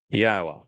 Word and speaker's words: Yahweh: It is through the Torah and on behalf of his people that Yahweh, which is God's name properly articulated based upon Chaya and Torah, which provide us with the instructions on how to pronounce it.